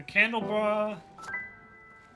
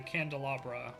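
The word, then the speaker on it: candelabra: So, it was plum, the candle bra, uh, and the pier. It's actually the candalabra. I just mispronounced it because I'm, uh, I'm attired.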